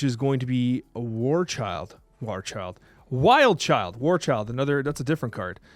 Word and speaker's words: Wild Child: Warchild, 2/1, reading, it's ongoing. Child, by the way. Sorry? Said it's Wild Child, by the way. Am I saying the name wrong again?